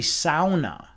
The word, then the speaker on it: sauna: I don't know if you guys know the correct pronunciation of of sauna, but it's actually sauna. Sauna. All right.